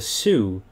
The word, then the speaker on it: Sioux: sure which one they called them the su s-i-o-u-x and then it's pronounced su and it basically means